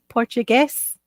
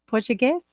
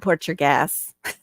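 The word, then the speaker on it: Português: of my stuff okay Portugues that's how they say it kind of like that portuges that's what it sounds like they don't speak Espanol they'll be like Portugues not Port your gas something else I guess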